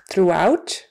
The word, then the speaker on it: throughout: Throughout means everywhere, throughout. We can smell the popcorn throughout the theater, throughout. So in those 2 cases, O-U-G-H is pronounced ooh.